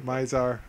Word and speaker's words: Mizar: way mazar's raiders uh it's pronounced mazar mizar um and wow this